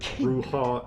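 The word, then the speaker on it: Brujah: It's pronounced Clan Bruja.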